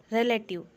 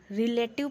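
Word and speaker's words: relative: अब हम देख लेते हैं रिश्तेदार, रिलेटिव। हम कई बार इसको रिलेटिव पढ़ते हैं जो कि पढ़ना गलत है। इसका सही प्रोनाउंसिएशन होगा रिलेटिव, रिलेटिव।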